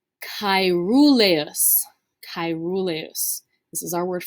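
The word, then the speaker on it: caeruleus: told you is really common this word is pronounced cairoleus chirulus this is our word for blue all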